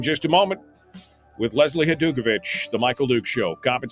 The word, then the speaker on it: Hajdukovich: I see Brian says, pronounce her name again. It's Hajdukovich.